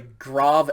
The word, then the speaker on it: grave: grav accent okay it's spelled like grave but it's pronounced grav it might even be grava but it i've heard it pronounced grav with that kind of um ah sound open a sound this one looks exactly